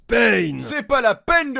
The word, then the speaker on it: Pain: Ça se prononce Pain.